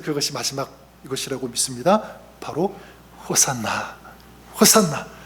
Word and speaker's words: 호산나: 이게 히브리어로 호시아나라고 하는데 이제 구원하서 이거를 헬라오로 이걸 따로 번역하지 않고 그 발음을 그대로 따온 거죠. 호시아나를 호산나 헬라오로 그렇게 부른 것입니다.